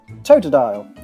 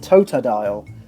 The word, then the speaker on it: Totodile: the anime since often Ash sounds like he's calling it toadal although that doesn't excuse those of us who replace that second t with a d Kangaskhan just where or